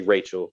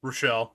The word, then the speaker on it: Rochelle: you, and I think I always say her name wrong because I want to say Rachel, but I know her name's Rochelle and not Rachel. Rochelle.